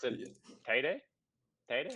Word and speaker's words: Teide: I would pronounce it Yeah. Teide, Teide, Teede.